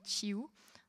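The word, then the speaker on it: Tiou: Il y a par exemple Virginie Chiou, ça s'écrit T-Y-O-U, qui a écrit une série de livres qui s'appelle Clicky.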